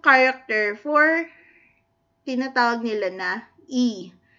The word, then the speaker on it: ㅣ: Yung bigkas na I, E. So, maalin niyo ba kung sabayan? E.